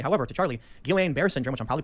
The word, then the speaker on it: Guillain-Barré: I will also say, however, to Charlie, Guillain-Barré syndrome, which I'm probably pronouncing wrong, it's a side I effect. always mispronounce it. Guillain-Barré.